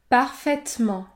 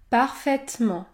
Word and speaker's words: parfaitement: les mots faire faire parfaitement parfaitement ici je ne prononce pas la voyelle e dans le mot parfaitement les lettres ai se situent devant la consonne prononcée parfaitement parfaitement chaise chaise laine